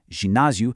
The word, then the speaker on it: ginásio: The word for gym, ginásio, starts with a soft J sound, not a hard G.